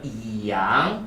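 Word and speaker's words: 羊: 근데 우리 발음하실 때 그냥 양 하지 말고 어떻게 하기로 했죠? 이로 시작하기로 했죠. 그쵸? 그래서 이양. 발음 시작.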